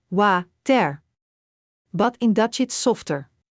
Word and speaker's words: water: In Dutch, the W is softer, more like an English V, but with lips closer together. Let's use the word water.